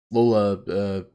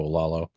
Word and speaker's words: Lalo: And, you know, honestly, despite what Mike says, Lola, I don't know how you say his name. Lalo, whatever his name is. Oh, Lalo. Lalo, thank you.